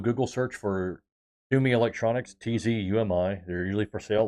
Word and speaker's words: Tzumi: The phonetic pronunciation sounds like Sumi. It's Tzumi, but it sounds like you're saying Sumi.